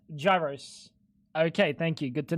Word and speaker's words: gyros: By the way, it's not pronounced gyros. It's pronounced gyros.